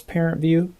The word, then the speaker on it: ParentVUE: be sent so that's parent view this is also called the parent portal there is an app called parent view it's spelled uh parent and then it's v u e that's available in both